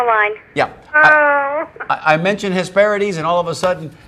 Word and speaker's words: Hesperides: Which is really Hesperides because if you look at it the way it's spelled, but we never knew that.